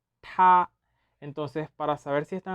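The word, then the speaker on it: 她: Es decir, para decir él y ella se pronuncia ta, ta.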